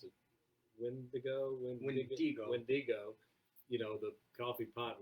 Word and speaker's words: Wendigo: You know, you've got the you pronounce it Wendigo.